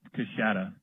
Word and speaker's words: Coushatta: It's pronounced Coushatta.